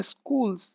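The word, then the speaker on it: schools: स्कूल में, इन आर स्कूल्स, स्कूल्स इसका सही प्रोनाउंसिएशन होता है स्कूल्स, स्कूल्स, मैं भी कभी कभी स्कूल बोल देता हूँ, मदर टंग का इन्फ्लुएंस है, स्कूल्स बोलेंगे आप, ठीक है, स्कूल्स।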